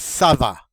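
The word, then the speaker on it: ça va: one of course is sava and this is a very informal greeting sabah notice the uh sadia under the sea which means this hard c is going to be pronounced like a soft c now and that means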